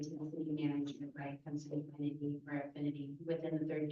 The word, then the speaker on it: consanguinity: Consanguinity. Consanguinity. Consanguine. Gwenity, that girl Gwen, consanguinity.